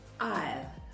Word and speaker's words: aisle: And the third one, aisle, means the passage between two rows of seats.